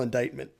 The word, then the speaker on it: indictment: go what's an indictment that's how you spell indictment i don't know why don't care but indictment